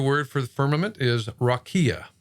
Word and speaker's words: rakia: Now the Hebrew word for the firmament is rakia. It's pronounced up there just like in any other dictionary.